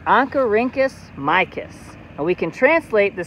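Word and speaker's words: Oncorhynchus mykiss: scientific name of a rainbow trout is pronounced ankarincus micus and we can translate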